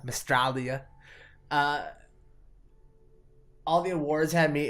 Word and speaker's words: Mystralia: Which Mandroid, who was our guest last week, he taught me to pronounce it like Australia, Mystralia.